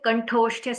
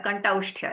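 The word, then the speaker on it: कण्ठोष्ठ्य: Okay, Kantosthya sounds. They are Kantausthya, actually, we say.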